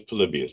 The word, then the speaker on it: Polybius: Like, no, the accepted pronunciation is Polybius, but that's okay.